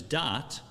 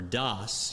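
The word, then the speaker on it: דעת: I need the third component of seichel, of intellect, which we've learned about, which is dat, or das, you'll hear people say in another pronunciation.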